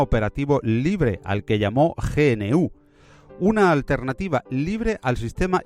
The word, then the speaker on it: GNU: GNU le gusta a Stallman que lo pronunciemos en español.